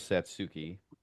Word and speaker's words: Satsuki: Oh man, would I like to try and pronounce this name right. Um, Satsuki. I'm gonna go with Satsuki.